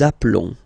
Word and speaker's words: appelons: Nous nous appelons. Okay, final s doesn't exist.